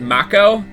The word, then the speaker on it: Mako: us for let's plays calls it Mach Oh because apparently they pronounce